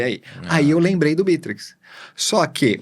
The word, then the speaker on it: Bitrix: Bom, é assim, Não tem problema falar Bitrix também, né? Mas a pronúncia original, digamos assim, é o Bitrix, né? Com a sílaba tônica aí no começo.